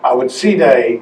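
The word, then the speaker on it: Awa Tsireh: this is the next project were working on I would Sarah as he is more commonly known I would see day as his name is pronounced in Samuel DiFonzo language was the most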